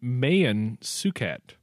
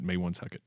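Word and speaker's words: Maewyn Succat: It or Not uh he was actually named Mayan sukat not Mayan sucket which some people pronouncing are you serious I I mean it's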